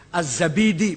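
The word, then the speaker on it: الزبيدي: Jangan Ad-Dainuri bacanya, Dinawari. Jangan Ad-Dainuri, nggak ada kota Dainur, ada Dinawar. Al-Asma'i, nggak ada Asma'i, Asma'. Az-Zabidi, bukan Zubaid, Zabid.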